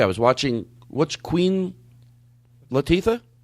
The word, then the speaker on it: Latifah: What's Queen Latifah? Yes. I'm saying it wrong. Queen what? Latifah. Latifah. Mm-hmm. I said it wrong.